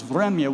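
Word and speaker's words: время: The word for time in Russian is vremya, which ends in a reverse R, what looks like a, but it's pronounced ya.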